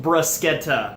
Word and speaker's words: bruschetta: a toaster oven so that's great also it's pronounced brascetta so there you go let's jump into the prep brusketta is a simple dish that requires only a